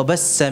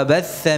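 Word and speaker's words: وبث: Ya ayuhan nasu taqu rabbakumul ladzi khalaqakum min nafsin wahidatin wa khalaqa minha zawjaha wa bassa minha. Harusnya apa? Wa batsa minha.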